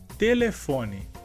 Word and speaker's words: telefone: Em português seria telefone. A sílaba mais forte nessa palavra em espanhol seria le, e em português seria fo.